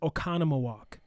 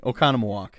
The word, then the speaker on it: Oconomowoc: list this and one that's really hard to pronounce and actually uh we featured them uh a local brewery from this area is oconomowoc um what was that again okay okay the town has i'm just kidding oconomowoc you know everyone kind of teases their uh